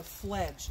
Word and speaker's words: fledge: Its babies are just about ready to fledge. That means leave the nest. It's spelled F-L-E-D-G-E. Fledge rhymes with ledge.